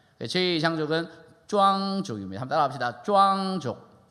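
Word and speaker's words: 壮族: 티벳 장족을 발음은 짱족이라고 하고요. 저희 있는 장족을 발음을 쭈앙족이라고 얘기를 합니다. 저희 장족은 쭈앙족입니다. 한번 따라합시다. 쭈앙족.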